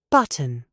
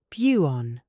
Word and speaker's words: button: Try it. Button, buon, cotton, koon, Britain, Brian.